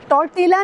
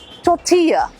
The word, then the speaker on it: tortilla: टॉर्टिला नहीं होता, ये टॉर्टस का भाई बहन नहीं है, इसको बोलते हैं टोर्टिया। L य में बदल जाएगा, L की साउंड नहीं है, इट्स टोर्टिया।